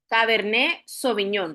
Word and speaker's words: Cabernet Sauvignon: cab vamos a hablar caberné soviñón, recuerden la pronunciación. ¿Por qué la pronunciación? porque eh es de origen francesa.